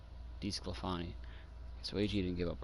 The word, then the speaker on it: DeSclafani: Okay, so it's DeSclafani. That's how you say his name. DeSclafani.